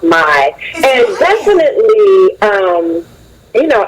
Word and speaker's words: MI: hair smooth and shine m.i but it's pronounced my and definitely um you